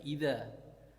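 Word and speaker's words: إذا: Nah, idza itu ketika ada alif depannya ya. Ketika ada alif depannya baru dibaca idza. Tapi kalau nggak ada alif bacanya id.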